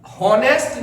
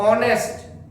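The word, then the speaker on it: honest: ऐसे ही होनेस्ट नहीं पढ़ते। ऑनेस्ट ऑनेस्ट पढ़ते हैं इसको। होनेस्ट यहां भी एस साइलेंट रहता है।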